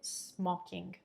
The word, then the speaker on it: smoking: lose mocking los mocking notice how i'm pronouncing that o is not smoking but it's opened up a bit smoking has nothing to do